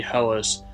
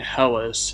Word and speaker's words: Helice: be showcasing a build centered around the bloody helis a somber heavy thrusting sword in Elden ring fun fact the word helis is Greek in origin so it can be pronounced hel but I'll stick with saying helis in this video since it flows better in